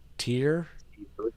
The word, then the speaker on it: Tyr: Bloody Sabbath Sunday we're going to talk about tyr how do you say that tier oh her bit wants me to point out